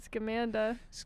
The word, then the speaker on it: Scamanda: You won't shut the fuck up about Scamanda. Scamanda. Is it Scamanda? That's how you pronounce it? Scam Amanda? Scamanda? It's a really stupid name. Yeah, the podcast series and the documentary is called Scamanda.